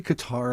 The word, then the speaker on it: Qatar: Isn't it pronounced Cutter cuz didn't they host an Olympics? They changed it. Yeah, it used to be Qatar and now everybody says Cutter.